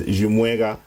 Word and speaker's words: Chimweka: Chimweka in this case, from the Eastern pronunciation of my name. So my name has different pronunciations. The rightful one is Chimweka, but I think people have had their own ways of pronouncing it.